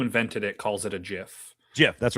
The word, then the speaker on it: GIF: Like like he pronounced it, the guy who created it pronounced it with a hard G as a GIF. And so people have been calling it GIF forever.